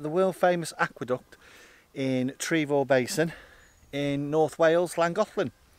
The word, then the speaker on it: Trevor: well it has actually but it is actually pronounced trevor not trevor so trevor basin i've got me mr bombastic